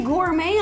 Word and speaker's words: gourmet: And they say gourmet on them again. I don't think I can trust that any longer. Gourmet. And the T is silent, otherwise it'd be gourmet.